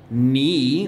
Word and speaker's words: knee: Teacher knows easy ones like knee. We've done knee many times, so K-N-E-E.